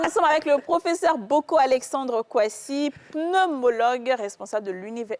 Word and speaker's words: Boko: Ah, mais ça, Mais en réalité, on dit boko. Boko.